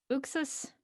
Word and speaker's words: Uxas: Have we settled on Uxas? Like what Ray Porter said. Like, I mean that if he listen, he's dark side. If he says this is how I say it, I'm like, then Who are we to disagree?